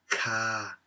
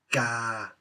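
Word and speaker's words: กา: So it is not read as ka. No. Ga. The ah vowel follows directly after the initial.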